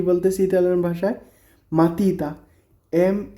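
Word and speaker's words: matita: pencil তো pencil কে কি বলতেছি ইতালিয়ান ভাষায় মাতিতা এম এ টি আই টি এ মাতিতা মাতিতা মানে পেন্সিল তারপর এটা কি একটা ব্যাগ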